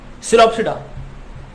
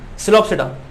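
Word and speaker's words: Psilopsida: सिलोप्सिडा, P silent है यहाँ पे भी, है ना। सिलोप्सिडा, सिलोटम एग्जाम्पल है, सिलोटम की फोटो देखो, है ना, सिलोप्सिडा, सिलोटम।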